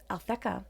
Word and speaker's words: Alphecca: The fixed star Alphecca, there we go, that's how you say it,